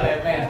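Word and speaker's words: Hermès: lemes itu iniesah kayakini Lemes ya kan dibacanya lemes kalau dibaca yang Atuk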